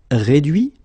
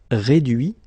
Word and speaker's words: réduit: Okay, so the same rule, because, well, basically it's the same group, and then same rule, final T not pronounced, so introduit, produit, réduit, séduit, traduit.